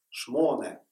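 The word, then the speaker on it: שמונה: На иврите слово 8 – «шмоне» с ударением на «о».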